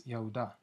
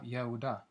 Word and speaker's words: Yehuda: their true name is Yehuda. The Y in their alphabet is pronounced Ye, and so you have Yehuda, as the H is silent, while certain dialects in the Ewe tongue would lead to Ya.